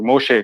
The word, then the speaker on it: Moshe: How do you pronounce Moses in Hebrew? Moshe, correct?